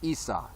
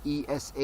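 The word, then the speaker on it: Isa: that's who Christ was he was Issa not ESA you ESA you not any other thing even though it might be spelled like that or described like that but when Christ came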